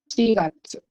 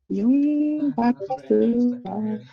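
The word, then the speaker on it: 四月: But for months, you only use she. Shigatsu. Oi. Shigatsu. So you do not use yon. Yongatsu.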